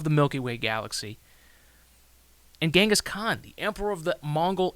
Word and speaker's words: Genghis Khan: And if you're interested in learning more about Genghis Khan, which is actually pronounced Genghis Khan, surprisingly, I point you no further than Dan Carlin's Hardcore History.